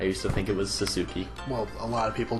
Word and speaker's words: Sasuke: with the S-U-K-E, and I realized that you don't actually, like, pronounce the U in a lot of those. Yeah, like, because, like, Yusuke's the same.